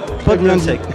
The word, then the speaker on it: Podlunsek: Alors c'est Vincent Potlunsek, parce qu'il a peur que je prononce mal son nom. Merci, je l'ai bien dit ou pas? Potlunsek, enchanté.